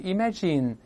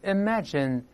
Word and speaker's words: imagine: 想象设想不是 imagine 是 imagine，注意这个 in